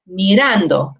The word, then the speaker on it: mirando: as we can hear we pronounce it just by itself it's mirando and you can hear it on the a so we just want